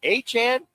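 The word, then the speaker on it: Achane: It's Achan.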